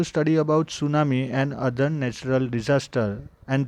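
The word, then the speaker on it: tsunami: अतिशेष spelling चालू होता है पर प्रोनुंसिएशन मिट्टी साइलेंट है सुनामी वैसे देखा जाए तो जापान का वड़े जापान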